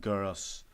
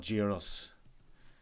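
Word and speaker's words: Geras: He's not Garrus. It's Garrus. He's not Gyros. Listen to the Garrus. the announcer of the game and the people who say his name in story mode, which is Garrus.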